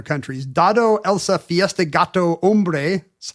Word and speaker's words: hombre: Dado, Elsa, Fiesta, Gato, Hombre. H as in silent H in hombre.